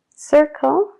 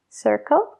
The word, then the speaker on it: circle: Cuando viene antes de una E, I o Y, se pronuncia como una S. Y en estas palabras, circle, exciting, cinema y decide,